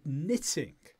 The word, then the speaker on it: knitting: the silent T and knitting and knitting because it's KNN has that silent k what about that word